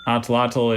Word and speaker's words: atlatl: Atlotl. Oh, I'm afraid that's incorrect. Atlotl is A-T-L-A-T-L.